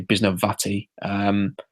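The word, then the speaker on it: Bisnowaty: Should say his name correctly, Bisnawati. He to me, he plays wearing number 69, which is Evan Mathis's number.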